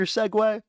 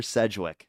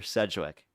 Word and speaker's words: Sedgwick: That's not how you pronounce my Segwick, bro. Hello, Segway. What's about you? What's up, Segway? Sedgwick. That's what it is, okay? It's Sedgwick. And it has no E, okay?